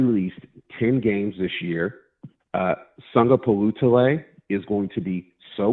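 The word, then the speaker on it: Sagapolutele: So after that first syllable, it's phonetic. Palutale. Sunga Palutale.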